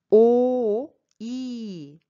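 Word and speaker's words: 오이: Il faut faire attention quand vous prononcez la voyelle à la première syllabe. Il faut bien fermer votre bouche. Quand voyelle est couchée comme ça, on ferme la bouche.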